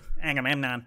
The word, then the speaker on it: Agamemnon: No, I was doing my- Actually, it's pronounced- Agamemnon.